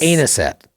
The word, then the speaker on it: anisette: Anisette cookies, it's like I think it's anisette. Anus? I think it's anisette. Adding. It's not the pronunciation that scares me.